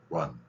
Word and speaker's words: run: UN 들어가는 단어인데 우리가 뭐 sun, 태양 그리고 R 발음이 있을 때는 우를 섞으라 그랬습니다. R, L 구별하는 원리 계속 기억하시면 됩니다. 우를 섞어서 발음하면 됩니다. run, run 이렇게 발음하시면 L-E-A-R-N 배우다하고 다른 발음이 된다는 걸 볼 수 있을 것입니다.